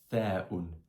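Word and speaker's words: ث: Il suffit de faire sortir l'air de la bouche en le bloquant avec la langue. Ça fait th, th, thaoun, thaoun.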